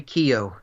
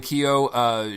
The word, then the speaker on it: Keough: Jimmy Simpson is in it Joel how you pronounce her last name Riley Riley Keough yes Riley Keough she is also a Topher Grace isn't it